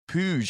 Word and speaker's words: Puig: Help me out on the pronunciation, Joe. You've met the man. It was Puig, actually, I heard on the commentary today.